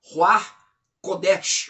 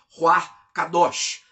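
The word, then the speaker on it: רוח הקודש: Vamos falar um pouco sobre Ruach Kodesh, ou como é mais pronunciado, Ruach Kadosh. E aí, pastor, já está falando em língua já, é? Calma aí. Eu estou citando o nome do Espírito Santo como ele é pronunciado no hebraico.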